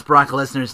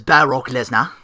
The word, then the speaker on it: Brock Lesnar: on the list of ways to pronounce Brock Lesnar's name. That's the number one, Brock Lesnar. Lil Creebo refers to him as Baroque Lesnar.